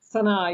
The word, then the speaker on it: Sana'a: Sana'a, yes.